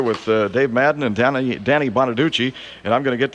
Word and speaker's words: Bonaduce: I've got to remember how to pronounce his name. Danny Bonaduce. Right? Bonaduce, right.